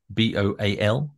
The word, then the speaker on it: Boal: Well, it's B-O-A-L. Boal. How else would you pronounce it, Matthew? Well, I speak Spanish, so in Spanish it would be Boal. So I automatically see it as pronounced in a different way. Gary Boal. Gary Boal. That's how it's pronounced.